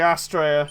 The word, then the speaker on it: Astraea: fine bottom of the leg John says the Australia yep at least lets out think you pronounce it you got it right John well